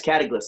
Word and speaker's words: Kataglyphs: Yes, Kataglyphs, like hieroglyphics, like hieroglyphs. Kataglyphs.